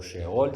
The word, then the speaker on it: Seol: en el Antiguo Testamento era Seol o sheol si la quieren pronunciar así pero esa palabra también